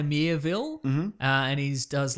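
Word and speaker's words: Miéville: author called China now to pronounce his last name but it's China mere Ville hmm and he's does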